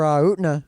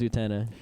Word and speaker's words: Utena: Yeah, I'd really like to get some more Utna.